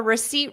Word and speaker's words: receipt: receipt repeat after me R receip seat so I'm sitting on a seat seat that is the sound and the beginning sound is r r because it's unstressed R receipt receipt receipt